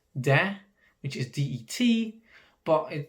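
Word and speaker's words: det: it or that it's de which is d-e-t but the t will never be pronounced then again some dialects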